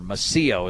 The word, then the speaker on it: Massio: Or Massio is the correct pronunciation.